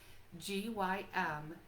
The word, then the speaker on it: Gymnema: I'm going to spell it for you so you can look it up. Gymnema. I'll say it again. Gymnema.